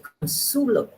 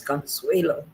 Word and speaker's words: Consuelo: little thing we did not know the proper pronunciation until when I just before Mannings okay we we used to say consulo but um a gentleman another teacher that um knew it told us that it was Consuelo right so that's how I got it and